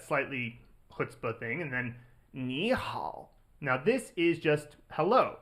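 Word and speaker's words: 你好: Whenever you have 2 third tones in a row, they're still written this way, but you pronounce the first one as a second tone. Ni hao.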